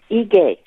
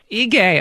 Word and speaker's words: Ige: Yes, the governor of Hawaii's name is pronounced Ige. Ige, okay, thank you.